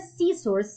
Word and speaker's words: scissors: scissors yeah the word scissors yeah we have Asylum leather in this case the silent letter is the letter c yeah you cannot say